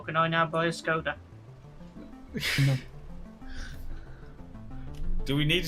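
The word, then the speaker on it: Škoda: By the way, it's pronounced Skoda. Skoda. Skoda. We There's a don't little hat check on top of the S, so it's a sh.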